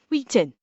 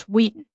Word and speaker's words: Whedon: Yeah, yeah, you don't pronounce pronounce the H. You don't say Whedon. You say Joss Whedon.